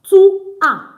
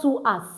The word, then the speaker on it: tu as: We don't pronounce our S. So it's not to us. It's to a.